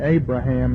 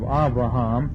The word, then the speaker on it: Abraham: we pronounce everything wrong we say Abraham instead of avraham whereas almost all the